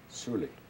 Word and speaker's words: Suli: So going back to the word we learned with Leonard, Huli, so you would pronounce that Suli? Suli. Okay. So any word with H in it, if you just switch that over to an S, then you'd be talking in the Siglik dialect.